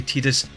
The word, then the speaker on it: Tidus: tirus or tidal so much prefer calling them titus i know the actual pronunciation is supposed to be tedious but no it's titus for me and i'll